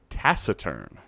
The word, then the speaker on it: taciturn: just read this and it's pronounced taciturn taciturn that changes everything